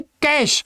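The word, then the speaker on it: cache: वो था मेरे भाई कैश। और ये क्या है दोस्त? ये आपका क्रैश। स्पेलिंग ध्यान रखना, प्रोनाउंसिएशन ध्यान रखना।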